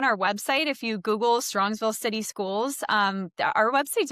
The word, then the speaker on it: Strongsville: And Strongsville. I was saying it wrong. I was saying Strongville and it's an S.